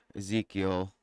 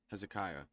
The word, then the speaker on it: Hezekiah: And it came to pass in the fourth year of King Ezekiel or Hez Hezekiah. Hezekiah. Sorry, I was mispronouncing that.